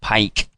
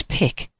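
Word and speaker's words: P!Q: thinks it was because people were pronouncing it pike. What's wrong with pike? Apart from it's a fake cuz it's not pike, it's pic.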